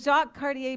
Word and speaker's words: Jacques Cartier: The Jacques Cartier Bridge, did I say it right?